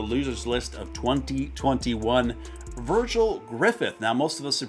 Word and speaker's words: Griffith: That's a very difficult last name to say. Griffith. See, even when you say it right, Griffith, it still sounds like you have a speech impediment.